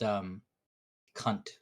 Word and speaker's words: Kant: In German philosophy, Kant is pronounced cunt, and we couldn't do that all day.